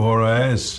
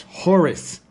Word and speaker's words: Horus: Thank you, Horus. I am here to pump up your movie opinions. Yeah, I've told you many times before that's not how you pronounce my name. It's Horus.